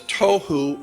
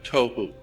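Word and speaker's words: תהו: being translated there is tohu and vohu. Pronunciation, it would be T-O-E hyphen W-H-O, tohu. That's not the way it's spelled in Hebrew, but that's the way it's pronounced. T-O-E-W-H-O, tohu.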